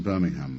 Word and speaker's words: Birmingham: I believe he's from Birmingham, Alabama. That's how they pronounce Birmingham.